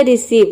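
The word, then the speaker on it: receive: तो देखिए, यहाँ पे ई साइलेंट है, ई को हम प्रोनाउंस नहीं करते हैं। तो ये हो गया रिसीव।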